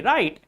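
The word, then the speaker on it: write: W will be silent if a word begins with W and this W comes before R like in right. W comes before R in right. So we have to pronounce it like spell it like there is no W. R I T E right and W R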